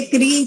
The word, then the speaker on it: क्री: कटा हुआ इसको बोलेंगे क्री तो इसका अर्थ है खरीदना उच्चारण दोनों का ही समान होता है इसको क्री बोलते हैं उसको भी क्री बोलते